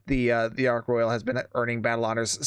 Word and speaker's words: Ark Royal: Yes, I've talked about this ship before, and yes, I saw your comments about me pronouncing it wrong. I don't know why I was pronouncing it Ark Royale.